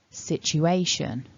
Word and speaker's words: situation: The main stress falls on syllable 3, A, and the first syllable gets what we call secondary stress.